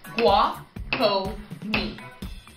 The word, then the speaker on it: Guajome: Guajo? Oh my god. No. Guajome.